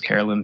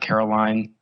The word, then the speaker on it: Carolyn: But conversely, there's male antagonism that faces Carolyn throughout her workday, from her coworker Jim's milquetoast support of her return, getting her name wrong even after being explicitly told that it's Carolyn, not Caroline, and the lack of